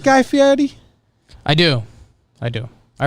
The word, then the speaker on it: Fieri: understand it the way he changed his name to Fieri but pronounced Yeti when his name is like guy ferry is kind of weird the worst thing he